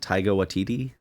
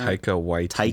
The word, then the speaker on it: Taika Waititi: It's I don't even know how to pronounce it. Is it Taika Waititi or something like that? Taika Waititi.